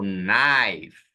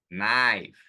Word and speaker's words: knife: E eu não posso pronunciá-las, são mudas. Então, nessa palavra aqui, eu falo knife, knife, walk, talk.